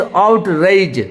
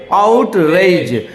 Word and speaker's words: outrage: देखिए ए के ऊपर लकीर है, इसका मतलब ए यू जब होता है औ होता है, तो इसको औ, आउट ऐसे पढ़ेंगे। और ई आई होता है ए, और मैं आपको बताया था डी और वो जो 3 जैसा है, 3 जैसा जो है, अगर दोनों साथ में आएगा तो जो होता है सिंपल होता है, मीन्स आउटरेज।